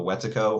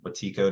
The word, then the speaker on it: Wetiko: of the website is Discovering the Wetiko, or Wetiko, depending on the way that you pronounce it.